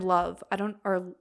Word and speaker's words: Lauv: I love it. They were one of my top artists of the year as well. And then Love, I think that's how you say it, Lauv, Love.